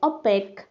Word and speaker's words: opaque: OPAQUE, इसकी pronunciation देखिए, ओपेक, ओपेक, ओपेक objects बोलते हैं।